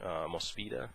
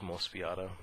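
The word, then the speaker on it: Mospeada: i think it's genesis climber mosfeta is how they say it it looks like most fiata um so i i rented um mospita and uh it was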